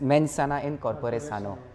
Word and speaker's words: mens sana in corpore sano: So if I'm not pronouncing it wrongly, it's said as mens sana in corpore sano.